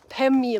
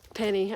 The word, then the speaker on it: Pemi: However, South Twin is part of the Pemi Loop, and so I want to bag the South Twin when I'm doing the Pemi Loop. Penny. I want to keep saying penny, but it's Pemi Loop.